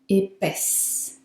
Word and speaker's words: épaisse: Feminine, épaisse. Épaisse.